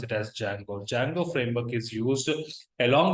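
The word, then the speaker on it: Django: there's a framework called Jango framework okay correct we have a framework called Jango framework D is silent you have to pronounce it as Jango Jango framework is used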